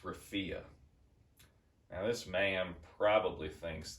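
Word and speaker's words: Rafah: right by the Sea it's it's awful it's pronounced Rafia now this man probably thinks that there's a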